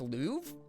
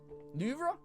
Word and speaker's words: Louvre: The way you pronounce Louvre? Louvre? Louvre? You don't pronounce the R in Louvre?